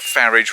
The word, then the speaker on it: Farage: uh the Spectre of farage rhymes with garage you know an old